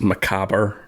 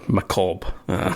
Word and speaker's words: macabre: French for but yeah for British English and for French we would pronounce as Macabre also with more of a French accent but I know American English is more macalp which is right which